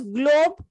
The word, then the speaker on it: GloBE: just to distinguish it, there is this pronunciation that you call it globy, but otherwise it is globe or globy. It is more a colloquial reference.